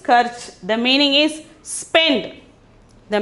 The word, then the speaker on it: खर्च: The 90th one is karch. The 90th one is karch. The pronunciation is karch.